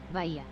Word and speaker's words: Bahia: Pronounce it! Say's the word! Really? Really? Bahia.